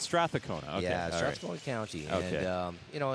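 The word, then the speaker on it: Strathcona: how pronounced straa cona stona County I've been mispronouncing I've been I've just been saying Strath cona okay so it's Strath aona okay yeah stona County and um you know in in in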